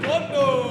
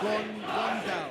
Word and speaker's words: Gondal: And let's welcome in his opponent, fighting out the blue corner, Talal Gondo. Gondal. That's how you pronounce his name.